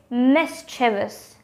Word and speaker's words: mischievous: it mischievous or mischievous it's mischievous with just three syllables we don't need to